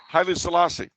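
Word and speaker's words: Haile Selassie: his name soliz or halley's uh of ethiopia hailey salasi there you go not even close his name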